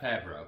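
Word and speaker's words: Favreau: good guy dad john fabro excuse me i always want to add an extra syllable in there um with his with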